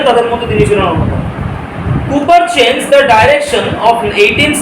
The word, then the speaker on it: Cowper: William কুপার। কাউপার টাউপার নয়, হ্যাঁ, উচ্চারণটা হচ্ছে উইলিয়াম কুপার।